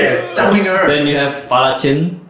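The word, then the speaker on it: Zhang Meng'er: And then how do you pronounce this name? Zhang Meng. Zhang Meng Zhang And Pala Chen. Wrong. You all Please, pronounce Jeremy. Zhang Minger. Okay, that's probably how you pronounce it.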